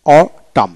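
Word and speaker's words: autumn: তারপর আসেন অটাম, হেমন্ত, হেমন্ত AUTUM, অটাম এন উচ্চারিত হবে না।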